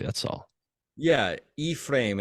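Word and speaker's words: Ephraim: correctly that's all yeah e-frame it's like e-p-h-r-a-i-m Barnum Jr what I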